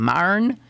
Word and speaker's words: Myron: How would Myron say his name? Myron? He did too. This is Myron Cope on sports. So he would do 2 syllables.